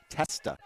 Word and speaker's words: Testa: Uh it it was uh not So Brad, I had to tell you it was Lexi Tesla, not Tesla, not like the car.